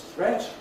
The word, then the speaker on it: threat: great rhymes with state threat is threat blind wet meat is meat rhymes